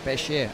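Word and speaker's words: Péché: We're talking, of course, of 27-year-olds Gauthier Klaus and Matthew Pesch, or Pechier, as we should pronounce it.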